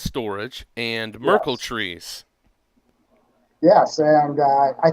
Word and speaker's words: Storj: how you say it storage which is spelled sto RJ but it pronounced storage and Merkle trees yes